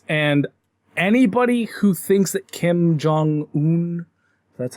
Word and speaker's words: Kim Jong-un: a shit place, and anybody who thinks that Kim Jong-un, that's how you pronounce his name, is a good ruler needs to...